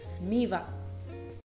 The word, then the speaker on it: Mývatn: Okay, this one's fun because, this one people don't know how to pronounce either. Mývatn.